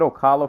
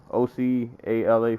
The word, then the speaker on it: Ocala: one number two said Ocala Flordia I never know how to pronounce this we're OC a la Florida a la it sort of sounds like Ocala yeah oh say Ocala Los Angeles California Newark